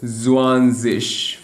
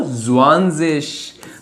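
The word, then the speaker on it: zwanzig: तो सबसे पहले वन को लिखा आइन उंड जुआंजिश।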